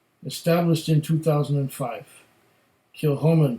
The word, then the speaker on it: Kilchoman: it and here it says established in 2005 kill Holman pronounce kill Holman it's one of the smallest distilleries in Scotland